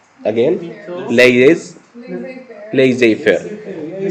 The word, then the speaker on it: laissez-faire: The first one, which I cannot pronounce again, Laissez-faire. laissez-faire. Yeah, it's English. Yeah, because it's French, right? I mean, this Yeah. is French, but you can pronounce it in English as well.